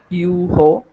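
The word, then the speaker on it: heureux: H, H is silent in the beginning in French language, and all the consonants are always silent in French at the end. So it is you ho.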